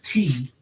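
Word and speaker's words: Te'a: I only got into it because of her name is T, but it's spelled like it's Tia, but her name is spelled like T.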